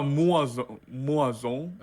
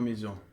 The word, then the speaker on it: maison: So you remember that we pronounce it like a, this combination of letters, right? So we say Maison.